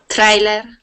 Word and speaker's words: trailer: time trailer trailer good now when we pronounce a TR sound okay we can sort of think of that like a CH so instead of saying Tre okay we do a CH sound trailer so it's like a c h and a TR R together trailer just like that okay okay and that's